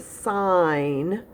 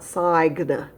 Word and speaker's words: sign: of the word and the g remember is silent so this is the word sign not sagna right that would be